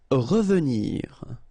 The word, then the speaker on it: revenir: Revenir. Okay, remember that is pronounced really like a.